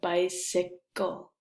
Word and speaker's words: bicycle: a K sound, a bicycle. So, and we also have a video about why the letter C in this word sounds like S here, bice, and it sounds like a K here, right? Bicycle.